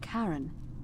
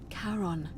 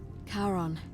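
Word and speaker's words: Charon: name you heard wasn't Karen it was c h a r o n as in Caron the ferryman of the Dead karon who in exchange for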